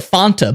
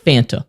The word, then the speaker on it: Fanta: we don't do that you pronounce it the way that the people say it and they're saying Fanta so it's Fanta not Fanta because if you're going